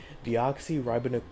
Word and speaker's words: deoxyribonucleic: Deoxyribonucleic acid.